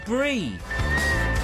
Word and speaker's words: Brie: Mark Selwood says, Brie is pronounced as in the cheese. Oh, Brie.